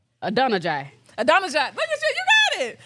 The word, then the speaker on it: Adonijah: So Google told us it was Adonijah.